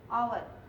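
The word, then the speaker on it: hour: इनकी दे रहा हो, जैसे मैंने आपको ये बताया ऑनेस्ट, आवर, ऑनर। तो ये सब जो है ना, आवाज देखिए यहाँ पे एच साइलेंट है लेकिन स्टार्ट ये एच से हो रहा है, आवाज ये किसकी दे रहा है, वॉवेल की दे रहा है।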